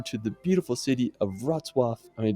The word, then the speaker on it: Wrocław: Now, after, we're going to head over to the beautiful city of Wrocław. I mean, it's such a tricky pronunciation.